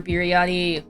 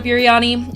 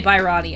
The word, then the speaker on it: biryani: I think I'm saying it right this time. Biryani, right? I used to say Bairani. I think I actually said Bairani when I said Kolkata Bairani because I fucking have pronunciation no disease.